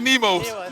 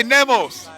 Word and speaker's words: Nemoz: I always say DJ Nemos, but I'm gonna say it correctly this time. DJ Nemoz.